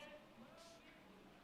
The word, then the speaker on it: Dokes: Pronounced Dukes. Spelled D-O-K-E-S.